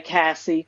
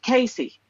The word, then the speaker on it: Casey: say, and another thing, her name may be spelled like you would say Cassie. We all say that in the beginning because that's what we're used to. She says that her name is pronounced Casey.